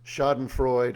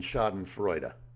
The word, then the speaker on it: Schadenfreude: I'm probably going to butcher the pronunciation, but I've heard it pronounced shodenfrod and shoden frea. You take your pick.